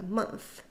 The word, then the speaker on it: month: 전치사 앞에 쉬워주고 for the next few month 번대기 발음으로 끝납니다. month 그럼 our hotel is undergoing renovation 한번가 볼까요?